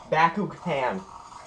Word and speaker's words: Bakugan: expected looks like some some type of a Bakugan or Baku G Bakugan oh that's that's how you pronounce it I'm going to backu can it's